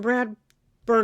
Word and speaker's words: Bradburn: get well soon prayers it's Austin Brad bur not Bradford someone's so pissed off